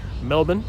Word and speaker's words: Melbourne: of Meteorology hopefully in Melbourne Melbourne is how they say it locally here in Australia so take care for